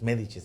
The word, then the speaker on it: Medicis: Es Medicis, así se pronuncia.